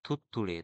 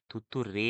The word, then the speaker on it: থুত্তুড়ে: দেখো পরেরটি দেখো থুত্তুড়ে, থয় হস্যৌ থয় থয় হস্যৌ ডস্য নরেকা থুত্তুড়ে, থুত্তুড়ে, থুত্তুরে নয় কিন্তু, এটা হবে থুত্তুড়ে, রে রে। তাহলে এই যে উচ্চারণের তফাৎ, এতেই বানান আলাদা হয়ে যায়।